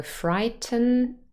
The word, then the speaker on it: frighten: So frighten, frighten, frighten, n. It's really just one sound in the final syllable.